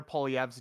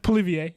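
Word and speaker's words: Poilievre: if the conservatives pier and you said Pierre pov's name wrong it's POV notv whatever you said poier it's French yeah it's uh it's French so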